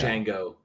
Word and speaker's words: Django: It's Django. The D is DJANGO. The D is silent. The D is silent, motherfucker.